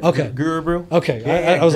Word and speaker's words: Gurubrew: say it for now you said right okay guru bro okay i was like it's a mouthful and